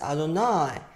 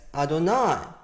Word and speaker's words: Adonai: is a clear situation the name is usually pronounced as Adonai not the way it's written that's called kativ perpetuum it's always read as Adonai and then is it